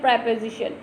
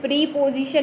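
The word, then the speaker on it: preposition: अब पढ़ते हैं प्रेपोजिशन। प्रेपोजिशन क्या होते हैं, पहले तो हमको राइट प्रोनाउंसिएशन सीखनी है। प्रीपोजिशन नहीं है, ये प्रेपोजिशन है, प्रेपोजिशन, ठीक है, PRE, प्रेपोजिशन।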